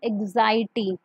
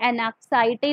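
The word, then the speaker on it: anxiety: At ease का मतलब होता है free from pen एंड एग्जाइटी। ये एनक्साइटी नहीं है, ये एग्जाइटी। यहाँ पर एन जो है उसकी जो साउंड है यहाँ पर साइलेंट हो जाएगी।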